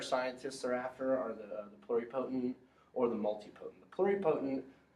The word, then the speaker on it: pluripotent: And how you pronounce this is pluripotent.